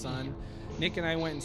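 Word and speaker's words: Sunn: on the podcast before there's a band called son yeah as unn and then there's an O with a bunch of parentheses it's just pronounced son Nick and I went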